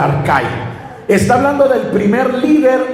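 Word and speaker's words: ἀρχή: Por ejemplo, cuando dice principados, e aquí viene en en esta traducción dice arhe que se pronuncia arca.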